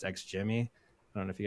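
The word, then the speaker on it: XGIMI: It's got a funny looking name, but it's pronounced X Jimmy.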